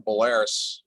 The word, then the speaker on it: Belarus: I always mispronounce Belarus. I'll sometimes say Belarusia or Belarus, but it's actually Belarus.